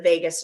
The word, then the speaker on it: vagus: And it says the microbiome communicates with the brain via the vagus nerve. Now, I am from Las Vegas, but it is spelled different. It's VAGUS.